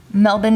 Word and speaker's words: Melbourne: meat did you hear how she said that melbourne nurse yeah melbourne melbourners yeah i learned that's